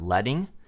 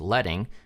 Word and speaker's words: leading: referred to as letter spacing we also have letting not to be confused with leading it's pronounced letting and that's a space between lines of text